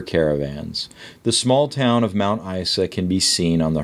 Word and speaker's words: Mount Isa: The small town of Mount Isa can be seen on the horizon. Page 6. Yoshi, you have to pronounce it like a Z or a Z for you.